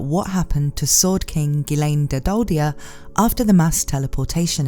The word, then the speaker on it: Ghislaine: for her name in Japanese and I'll be pronouncing it in the closest English way to that from now on which is gilain apparently it's not just me though because in